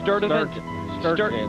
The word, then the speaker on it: Sturdivant: It's some hard-to-pronounce place in Selma, Alabama. Where is it? Rick, it's Sturdivant. Sturdivant Hall in Selma, Alabama.